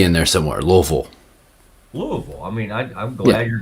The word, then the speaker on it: Louisville: It is not Louisville. It's not pronounced that way. It's Louisville.